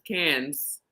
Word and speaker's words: Cannes: Millennium as I go I always thought it was cons but it's cans it's cans it is cans um I had a